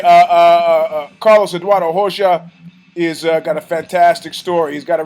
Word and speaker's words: Rosa: got Carlos Eduardo Rosa if you a fan of Portuguese you pronounce it HOSA Tado comes from fla